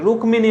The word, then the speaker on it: রুক্মিণী: এর উচ্চারণ কিন্তু রুক্মিণী নয়। সংস্কৃতর ক্ষেত্রে এইগুলোর উচ্চারণ আছে, রুক্মিণী হবে সংস্কৃতর ক্ষেত্রে, কিন্তু এইখানে বাংলাতে এর উচ্চারণ কি হবে? রুক্মিণী। বাংলাতে এর উচ্চারণ হচ্ছে রুক্মিণী।